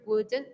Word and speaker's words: would: Debemos también tener en cuenta la pronunciación del would, que lo hacemos sin la L.